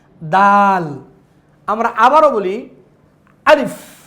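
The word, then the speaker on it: ألف: আলিফ, জোরে বলেন আমার সাথে, লাউডলি জোরে বলতে হবে আপনাদেরকে। আলিফ, দেখেন আলিফ, শেষে এই যে ফা, মানে একটা সফট বাতাস বের হচ্ছে।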